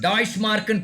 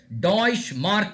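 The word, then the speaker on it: Deutsche Mark: Option C டாய்ஷ் மார்க்னு பேர். அதை படிக்கும்போது டாய்ஷ் மார்க் அப்படின்னு ப்ரொனவுன்ஸ் பண்ணணும். எப்படி ப்ரொனவுன்ஸ் பண்ணணும்? டாய்ஷ் மார்க். யாராவது ஒருத்தர் சொல்லுங்க. Deutsch. அது ஸ்பெல்லிங் என்னமா இருக்கு, அது இல்ல.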